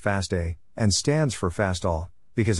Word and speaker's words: FASTA: the smith waterman algorithm fosta is pronounced fasta and stands for fastall